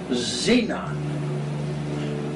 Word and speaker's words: Xena: which NASA calls Xena, the X U pronounced in Z, Xena. This news also made the front page of the Parade magazine of January 15, 2006 edition.